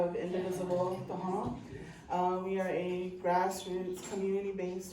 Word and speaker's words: Tohono: So the formal pronunciation is Tohono. Okay, so that would be like New Orleans. Nobody says New Orleans, they say Nolens, right? So we commonly pronounce it Tohono.